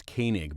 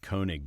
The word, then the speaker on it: Koenig: The name was Koenig, but I pronounced it Koenig because of the way it was spelled.